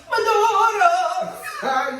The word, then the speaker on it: maduro: Maduro.